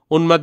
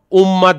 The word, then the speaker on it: উন্মাদ: উন্মাদ বললে আমরা এখানের মধ্যে দেখ উম্মাত বলতেছি না। মানে দুইটা ম কে উচ্চারণ করতেছি না। আবার উমাত বলে একটা ম কে উচ্চারণ করতেছি না। বরঞ্চ এখানে উনের উচ্চারণ হচ্ছে ম এর উচ্চারণ হচ্ছে।